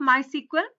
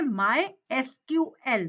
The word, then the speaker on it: MySQL: MySQL। जैसे इंग्लिश के अल्फाबेट्स हैं, आपको इंडिविजुअली उनको प्रोनाउंस करना है। MySQL। MySQL है क्या? MySQL is the most popular open source relational MySQL database management system.